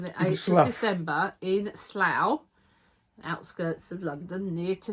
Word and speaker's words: Slough: Amy, it's Slough. You were right. Slough rhymes with cow.